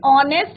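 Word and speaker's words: honest: नेक्स्ट है, शी इज एन ऑनेस्ट minister, ईमानदार minister.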